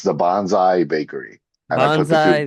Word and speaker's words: Bonsai Bakery: How do we pronounce this? Bro, it's the Bonsai Bakery.